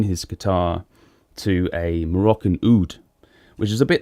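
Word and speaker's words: oud: um on a side note an amazing uh Ood player UD is how you how you write it um food that's how you pronounce it amazing Ood player is Anwar Brahim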